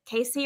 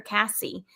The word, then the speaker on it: Casey: A lot of people will say, is it Casey or Cassie? And I think in my brain, well, phonetically speaking, it absolutely is Casey. It would have to have two S's in order for it to be Cassie.